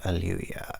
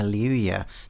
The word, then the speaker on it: Alewya: I believe aluya is how it should be pronounced, but there is a chance that I am wrong about that.